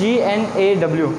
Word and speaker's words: gnaw: This is GNAW, यहाँ पे भी जो जी है वो क्या हो रहा है, साइलेंट हो रहा है। ओके, एन का साउंड जो है वो हमें सुनाई दे रहा है।